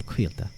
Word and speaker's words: Cailte: and then Quilta is, it's like wheel, but with a K, and then just a little T at the end, so Quilta.